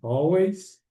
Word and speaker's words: always: Esse aqui é always, não é always, é som de O mesmo. Always.